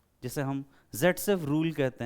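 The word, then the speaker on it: Zaitsev: कहते हैं, या फिर सेटजेफ उसे प्रोनाउंस करते हैं, जैसा एनसीईआरटी ने लिखा है कि हम इसे जेटसेफ लिखते हैं एंड प्रोनाउंस करते हैं सेटजेफ, मतलब ऐसा प्रोनाउंस करते हैं।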